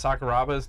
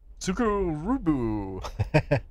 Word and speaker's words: Sakuraba: He's trying to pronounce Sakuraba's name. He's like, Tsukurubu. And then I think Brian Stanton whispers over, it's Sakuraba?